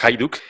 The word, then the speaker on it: Hajduk: j the uk hajduk pero se pronuncia hayduk hay duque en español